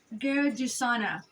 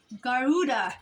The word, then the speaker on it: Garuda: called a uh I'm not sure if I'm pronouncing it right right but it's called the G gadana which is which is the guda which is a mythical bird in Hindu and it's uh G Garuda Garuda sorry translates Eagle in Sanskrit now I